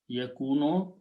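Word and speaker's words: يكون: When we put a ya in the beginning and pronounce yakunu, this is the present tense, and it is or he is.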